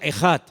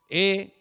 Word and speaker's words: Ejad: Y esa palabra, el Señor, nuestro Dios, es uno, es una palabra que se pronuncia Ejad. E-J-A-D.